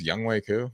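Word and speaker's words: Younghoe: That's how you say his name. Young way cool. Damn. Young Ho. Young Hokku. It's spelled Young Ho. It's Young Way though.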